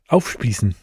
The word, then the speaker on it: aufspießen: Aufspießen. Okay, what are you thinking here, Jan? Nice and easy one. I thought you're going to repeat it. It's aufspießen.